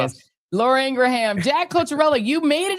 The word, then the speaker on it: Ingraham: Uh Laura Ingraham. Yes, I do call her Laura Ingram. I know what her name is. Laura Ingraham.